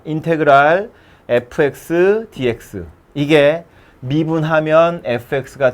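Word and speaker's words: integral: 읽을 땐 인테그랄이라고 읽어요. 전혀 상관없게 생겼지만 인테그랄이라고 읽습니다. 인테그랄 fx dx, 이게 미분하면 fx가 되는 놈이라는 뜻의 기호예요.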